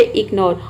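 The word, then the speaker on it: ignore: जी आ रहा है तो आ डी को छुड़ाकर बाकी वर्ड में अगर शुरू में आई आता है तो आपको सिंपली ई प्रोनाउंस करना है इग्नोर इग्नोर मींस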